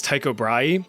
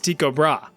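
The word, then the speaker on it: Tycho Brahe: this guy's name is Taiko Bry, but apparently the proper Danish pronunciation is Tiko Bra.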